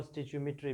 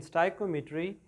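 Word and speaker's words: stoichiometry: अच्छा, chapter number 1 है स्टाइक्योमेट्री। स्टिक्योमेट्री भी बोलते हैं और स्टिचियोमेट्री भी बोलते हैं, लेकिन स्टाइक्योमेट्री इज़ the most appropriate pronunciation.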